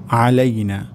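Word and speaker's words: عَلَيْنَا: বলতে হবে আলাইনা আলাইনা গলার মাঝখান থেকে হবে আলাইনা আসসালামু আলাইনা ওয়ালা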